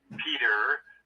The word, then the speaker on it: Peter: your accent immedately say Peter but we pronounced the T in Britain and I say yeah